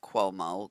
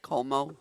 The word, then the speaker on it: Como: yesterday of them in Cuomo Cuomo is that how you say it um in Italy lake comoo Lake uhhuh Como yeah walking around arm and